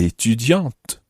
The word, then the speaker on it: étudiant: If Anna were male, she would say, je suis étudiant. Notice the difference there. A male would say, étudiant, and a female would say, Étudiante.